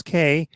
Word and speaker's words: Cay: at look for walkers k dot ca and k is spelt c a y and uh you can